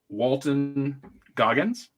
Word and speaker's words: Walton Goggins: Not a spoiler, but they had me when it opens with Walton Goggins.